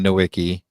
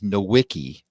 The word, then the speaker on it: Nowicki: So my last name is Nowicki, Nowicki. It's Polish. It's actually supposed to be Nowicki, but nobody understands that's how you pronounce it.